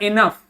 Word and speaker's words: enough: And seemed, seemed happy को पढ़ेंगे क्या, जब भी ये जी होगा इसका कोई प्रोनाउंसिएशन नहीं होगा, सिंपली हो जाएगा इनफ। क्या हो जाएगा, इनफ, ठीक है, ENOUGH, इनफ, ठीक है।